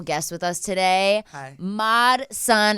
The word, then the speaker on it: Mod Sun: Mod Sun. Am I saying it right? Yes, Mod Sun.